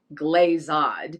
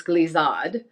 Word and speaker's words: glissade: you say them but it is definitely not glazad glazad it's glizzod in cortada he almost